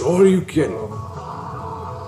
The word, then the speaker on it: Shoryuken: It's pronounced Shoryuken.